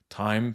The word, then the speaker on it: thyme: Thyme, not time as in tiempo. How do you pronounce it? No, it's time. No, it's time, but not time. I know, not time like the hour, like time. Thyme. Thyme. Zatar.